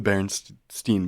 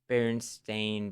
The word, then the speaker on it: Berenstain: everyone thought it was spelled EIN. It's AIN. Oh. It wouldn't be like Berenstein, kind of No, like not as in the German Stein, no.